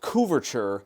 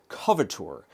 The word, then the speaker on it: couverture: want you to know it is pronounced Ed couverture not cature the cocoa press docks